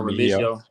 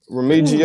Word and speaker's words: Remigio: Nico Remigio. Remigio. Ooh, Remigio.